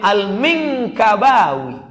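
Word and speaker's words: المنكباوي: Gimana cara membacanya hurufnya banyak betul? Alif Lam Mim Nun Kaf Ba Alif Waw Ya. Rupanya bacaannya Ahmad Khatib Al-Minkabawi.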